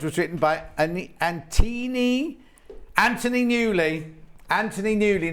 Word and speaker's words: Anthony Newley: Anthony Newley, not Antini.